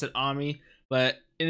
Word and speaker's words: Ami: it in the show that her name is Ami, or at least I'm almost positive they pronounce it Ami, but and it's even spelled A-M-I instead of A-M-Y like Amy, but it's just so weird to say Ami